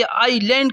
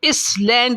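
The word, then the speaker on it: island: घिरा हुआ हो, ये आईलैंड कहलाता है। इसमें एस साइलेंट है, इसको इस लैंड नहीं पढ़ेंगे, आईलैंड पढ़ेंगे।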